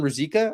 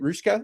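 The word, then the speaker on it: Ružička: Um Yiskovski lines up on the first line with Adam Rosika I believe is it. Rushka is how you pronounce that name.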